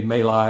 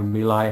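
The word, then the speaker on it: My Lai: went to to uh the may lie or milai however you want to pronounce it uh memorial uh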